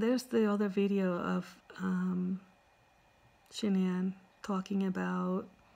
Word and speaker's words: Shanann: So Sandy, Shanann's mom, pronounces, from what I heard from Dr. Phil, she pronounces her name as Shanann. She says Shanann. And Chris Watts pronounces it as Shanann.